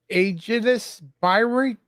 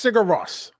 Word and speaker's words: Sigur Rós: 90s is I don't know if I'm saying it right. Aegis Byrie. It's Sigur Rós, that foreign group. Cigaros. Sigur Rós, yeah.